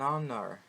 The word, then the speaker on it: honor: And in the other case, an honor, an hour. Quando eu falo essas palavras, né? Honor, hour, eu não pronuncio o H. O H ele é silent, ele é mudo.